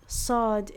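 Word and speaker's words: ص: Like sod is basically just seen or s with a open throat, a more open throat, and some of the throat muscles are lower, right?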